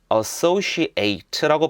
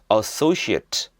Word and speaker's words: associate: 근데 associate라고 발음하면 동사로 쓰이고요. associate 이렇게 발음하면 명사가 됩니다.